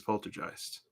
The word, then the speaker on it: Poltergeist: ghost that old polter gist of course is a German word and German's a language and it means things when it translates but sometimes the original words more fun to say and the only right way to say it is Poltergeist I said one the